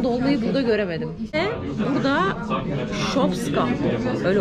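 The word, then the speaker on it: Шопска: Ve burada şopska. Öyle okunuyor yani.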